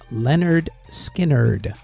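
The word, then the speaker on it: Lynyrd Skynyrd: In 1973, Leonard Skinner released pronounced Leonard Skinnerd.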